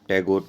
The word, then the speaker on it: Tagore: बोलते नहीं आता था हमारे लिए था होता है लेकिन था उनके लिए प्रोनाउंस करना काफी मुश्किल था तो इसे उन्हें वे लोग रविंद्रनाथ टैगोर काफी फेमस द तो वो ठाकुर का भी फेमस द तो भाई टैगोर बोलने लगे और ज्यादातर स्टूडेंट्स होते